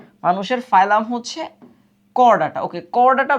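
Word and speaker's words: Chordata: এটা হচ্ছে করডাটা মানুষের ফাইলাম হচ্ছে করডাটা ওকে করডাটা বানানটা ইংলিশে একটি ইম্পরটেন্ট মজার জিনিস এটা চড় ডাটা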